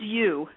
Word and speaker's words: You: My name is U. That's spelled Yo U.